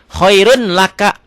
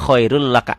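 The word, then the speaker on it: خَيْرٌ لَّكَ: Khairun laka. Hukumnya idgham bila gunakan apa? Karena tanwin atau domatain ketemu lam. Khairul laka. Ditulisnya khairun laka, dibacanya khairul laka, n-nya hilang. Yauma idil la khabir, ini lam ya.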